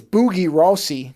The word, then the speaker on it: Bugie Rosse: The original Italian title is Red Lies or I think it's Boogie Rossi would be how you pronounce it, not that I'm doing it very well.